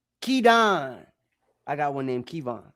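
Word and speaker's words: Kidan: Masha Kedan. K I D A N like some of y'all ghetto cousins. Kedon.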